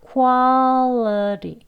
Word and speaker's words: quality: 혀끝이 똑같은 위치 아닙니다. 지금 설명드린 것처럼 윗니 안쪽에 L 그리고 위에 이제 톡 튀어나온 치경 부분, 여기 그림과 같은 부분에 대고 라는 소리를 내시면 되겠습니다. 그게 정확한 원어민 발음이에요.